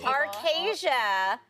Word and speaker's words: Arkesia: in archaea for you is it arkesia or arcasia right that's been a debate arcasia is uh is how i've been i've been told that we are pronouncing it today but i say tomato